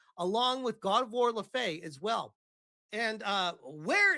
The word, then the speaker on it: Laufey: Also, if you're going to bring up another character from another game, at least pronounce her name right. Laufey the Just.